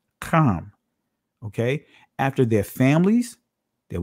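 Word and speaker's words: חם: These are the sons of Ham or Cam. That's the proper pronunciation. Cam.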